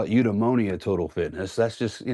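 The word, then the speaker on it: eudaimonia: I was like, I'm not going to call it udeimmonia total fitness. That's just, you know, it rhymes with pneumonia for one thing, but it's not very catchy.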